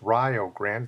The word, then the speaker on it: Rio Grande: It's pronounced Rio Grande. It's named after the river in Texas. They pronounce it Rio, so it'll rhyme with Ohio. In 1954, playing for Rio Grande against Hillsdale College, Bevo